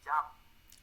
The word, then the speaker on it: jumped: stopped in front of her house MH she jumped she jumped yes with t she jumped jumped